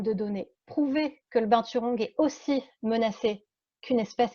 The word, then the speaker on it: binturong: Alors, la prononciation, moi, je le prononce juste à la française, binturong, mais quand vous allez en Asie, c'est binturong.